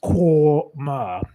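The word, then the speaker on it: Quernmore: pronounced quar spelled qu u e r n m o r eq kmer.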